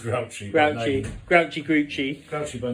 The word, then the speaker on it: Grouchy: pronounced Grouchy.